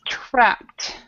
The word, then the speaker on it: trapped: of the and and it's also aspirated both the T and the P are aspirated I'm want to I'm